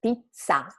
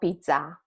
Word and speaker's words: pizza: So, double consonant is pizza, not pizza, right? Pizza. So, when you have a double consonant in Italian, you just need to make the sound a little bit longer than a single consonant word and stronger.